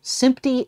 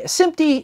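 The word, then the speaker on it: SMPTE: picture and television Engineers or sympty as I'm apparently been discovered that they call themselves or they pronounce their acronym as opposed to spelling it out but whatever that's neither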